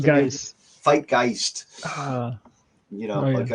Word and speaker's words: Fight Geist: Fight Geist. Oh, yeah. Rhymes with kind- Zeitgeist.